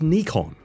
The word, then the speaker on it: Nikon: It was a dark day for the Nikon brand, which he didn't even bother to pronounce correctly. It's Nikon, LIKE WHO ARE YOU?